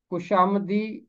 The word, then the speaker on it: خوشامدی: ہو، لیکن وہ یہاں اس کا تلفظ ہوگا خوشامدی لب۔ خوشامد کا مطلب ہوتا